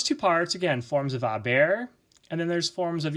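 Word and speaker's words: haber: the first part is always a form of a bear which are very short and the H is never pronounced and then you have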